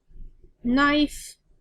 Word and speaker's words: knife: Knife. There's the silent K you can't hear.